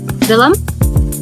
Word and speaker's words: Vilim: on uh uh villam hi cadium am I pronouncing your name right if not please give us the correct pronunciation yes it is correct so uh take